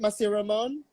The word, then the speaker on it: Masiramon: You have to make sure we say it right Yay! because it's Bicolano. So are we saying Yes. it right? Masiramon?